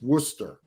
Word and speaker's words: Worcester: field in worcester hmm i love how the the the word is spelled w-r-c-e-s-t-e-r and it's worcester instead of new england accent